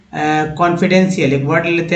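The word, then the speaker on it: confidential: या लिखते हैं, मान लीजिए कि कॉन्फिडेंशियल, एक वर्ड लेते हैं, कॉन्फिडेंशियल, इसमें बहुत सारे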